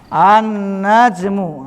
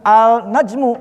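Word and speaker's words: النجم: An-najmu. Dibacanya bukan al-najmu, bukan.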